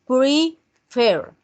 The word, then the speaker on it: prefer: Contrario a la otra regla, esta sí tiene acento en la última sílaba, ¿cierto? Entonces, prefer. El acento lo tenemos en la última, que es la R.